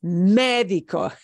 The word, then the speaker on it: médico: And notice that accent mark means we don't say that word médico. It's médico. All the accent mark means is I punch the E from me harder than the other syllables.